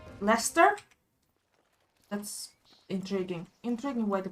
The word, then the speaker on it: Leicester: Powers now exist in relative Harmony it was licester well it's Lester that's intriguing interesting way to pronounce it this will be your first time